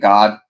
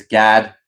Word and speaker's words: Gad: The way I pronounced that almost sounded like I said God. It's Gad, like G- A D for Gad.